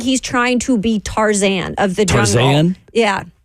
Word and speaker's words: Tarzan: It really looks like he's trying to be Tarzan of the jungle. Tarzan? Yeah. Yeah. Yeah. Would put the emphasis on the last syllable.